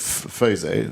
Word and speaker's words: FOSO: It is well I call it Fos Fos or or Fos. It it it I it depends on which country you're in if it's you know.